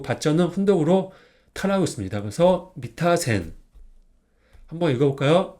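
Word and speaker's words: 三田線: 이거는 석삼 이거는 바천 그래서 석 3은 덕으로 미라고 읽어요 그리고 바자는 덕으로 타라고 있습니다 그래서 미타 센 한번 읽어 볼까요 미타 센 미타 센네 그러면 다시 이거는 석삼 이거는 과점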